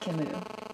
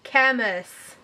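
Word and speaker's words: Camus: title of the book the first novel you have is the Stranger by Albert Kimu it is it is not the Stranger by Albert cus the next novel is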